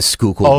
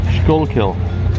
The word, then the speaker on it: Schuylkill: No, this is they asked some of the golfers to pronounce some of our, like the Schuylkill River, the cities, yes.